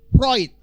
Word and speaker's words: Freud: tulisan Sigmund Freud Gan tulisannya Sigmund Freud itu bacanya harus Sigmund proid Sigmund proyek Naurah Sigmund